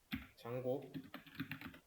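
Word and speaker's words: Django: pip 업그레이드 했고 장고 그리고 MySQL 클라이언트, 이 D는 묵음이에요. 장고입니다.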